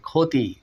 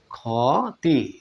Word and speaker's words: ক্ষতি: দেখুন ক্ষুধা তার মানে খ এর মত উচ্চারণটা দিয়ে থাকে খতি খতি ক্ষতি এভাবে বন্ধুরা শব্দের